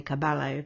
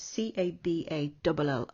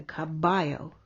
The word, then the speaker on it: caballo: so you could say caballo but you wouldn't be pronouncing it correctly in spanish so it's c-a-b-a-l-l-o and double l in spanish is sometimes pronounced like a y so caballo caballo your job is